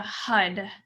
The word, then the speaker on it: Har: we chant the mantra hud it's spelled har but it sounds like hud hud hud hud and